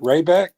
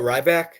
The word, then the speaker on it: Ryback: How do you pronounce Rayback? Oh, Ryback?